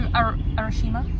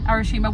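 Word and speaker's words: Arashiyama: When you went to Arashima, that's the correct pronunciation. Arashima, where the bamboo forest is, there is a lake there, and it is so picturesque.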